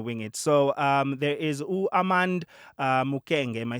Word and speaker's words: Armand Mukenge: So there is Armand Mukenge. Am I saying it correctly? Yeah, Arm- Armand Mukenge. Armand Mukenge.